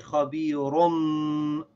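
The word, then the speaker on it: خَبِيرٌ: So they'll put a meme there to remind you that you should read the noon sound of the tanween like a meme. So you say, khabirum bima ta'amaloon.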